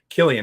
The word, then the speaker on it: Cillian: one of the best Letty Lou says Ah Killian I figured Letty would know she's Irish you know so but yeah we've we've mispronounced it for so many years that it's going to